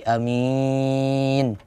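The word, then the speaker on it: آمين: Dengan A-nya dipanjangkan, Mi-nya dipanjangkan jadi amin. Ada juga cara baca yang kedua dengan wazan fa'il, berarti amin.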